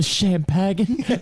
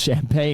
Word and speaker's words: champagne: and he's just like you want the rest of the champag and she's like it's actually pronounced champagne and he's like oh